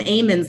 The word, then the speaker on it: almonds: I don't know the first thing about almonds, but apparently they pronounce them amens there.